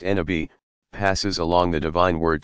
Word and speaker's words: nabi: Every prophet, Nabi, pronounced Nabi, passes along the divine word to a particular people and inevitably meets with tremendous resistance, at least initially.